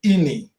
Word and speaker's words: Eni: uh Ian and I we call we pronounce ini okay shell are two all